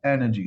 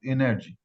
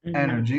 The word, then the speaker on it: energy: Now the stress is on the first syllable. This one, we say energy, not energy. Okay, energy.